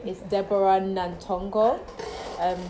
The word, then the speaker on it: Nantongo: proper name is deborah nantongo and that's how i usually pronounce it anyway but my mom's like nantongo yeah so i was